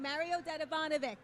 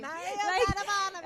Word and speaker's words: Mario Dedivanovic: And how to say his name, Mario Dedivanovic. That's how you say his name. Mario Dedivanovic.